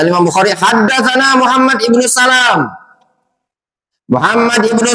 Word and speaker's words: Salam: Kata Imam Bukhari, haddatsana Muhammad ibnu Salam. Muhammad ibnu Salam bitakhfifil lam. Lamnya ditakhfif. Jangan antum baca Muhammad bin Salam, tapi bacanya Muhammad ibnu Salam. Yang sahih bacanya ditakhfif.